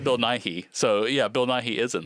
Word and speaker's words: Nighy: I think that's how you say it, Nighy, because it's Nigh.